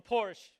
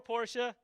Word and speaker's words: Porsche: A Porsche or Porsche. They still can't decide how to pronounce it, even though Porsche has told them how to pronounce it.